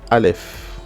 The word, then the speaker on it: Aleph: En général, franchement, le Aleph, c'est vraiment une lettre muette.